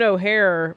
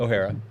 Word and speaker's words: O'Hara: I I'm sad than when anybody dies, but it's like the Katherine O'Hare passing. Is that how you say her name? Katherine O'Hare. I say O'Hara.